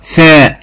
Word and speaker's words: ثاء: الفرق بين حرف الثاء والسين، حرف الثاء لازم اخرج فيه لساني ثاء، اما السين لا يخرج فيه لسان سا.